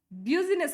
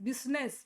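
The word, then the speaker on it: business: ಕರೀತೀವಿ S this one ಬ್ಯೂಸಿನೆಸ್ ಸಂ times ಏನಂತ ಕರೀತಾರೆ ಬ್ಯೂ ಬಿಯು ಇರೋದ ಕಾರಣಕ್ಕೆ ಇದನ್ನ ಕನ್ನಡದಲ್ಲೂ ನೀವು ನೋಡಿರಬಹುದು ಕನ್ನಡದಲ್ಲಿ ಟ್ರಾನ್ಸ್ಲೇಷನ್ ಬಂದಾಗ ಬ್ಯೂ ಬ್ಯೂಸಿನೆಸ್ ಬ್ಯೂಸಿನೆಸ್ ಅಂತ ಬರೀತಾರೆ ಇದನ್ನ ನೋ ದಿಸ್ ಇಸ್ ರಾಂಗ್ ಈ ಕನ್ನಡದಲ್ಲಿ ನಾವು ಎಕ್ಸಾಕ್ಟ್ಲಿ ಇದನ್ನ ಟ್ರಾನ್ಸ್ಲೇಟ್ ಮಾಡಿದಾಗ ಅನ್ನೋದು ಇಲ್ಲಿ ನೋಡಿ ಹಿಂಗೆ ಕಾಣ್ಸುತ್ತೆ ಬ್ಯೂಸ್ನೆಸ್ ಬ್ಯೂಸ್ನೆಸ್ ಬಿಸಿನೆಸ್ ಬಿಸಿನೆಸ್ ಅಥವಾ ಬಿಸಿನೆಸ್ ಬಿಸಿನೆಸ್ ಅಂತಾರೆ ಸೋ ಇದು ನೆಸ್ ಅಲ್ಲ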